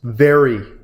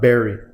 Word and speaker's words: very: me explain to you it's very not berry okay let's just get